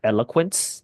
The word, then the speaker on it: eloquence: correction on your pronunciation the word is pronounced eloquence like El Quint so and that word